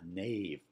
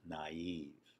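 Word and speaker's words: naïve: eye in naive again if we saw that in regular native English we would pronounce it as a single syllable word and that knave probably but with a diaeresis it tells us it's naive another one you may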